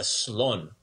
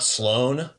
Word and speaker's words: slon: go elephant is a slon very good slun slone got it so not sloan so maybe make that n sounds quicker better way better and then we got